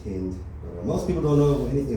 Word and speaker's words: Hind: Yeah, Macklemore came out with a new song, pro-Palestine song called Heinz Hall. It's actually pronounced Hind.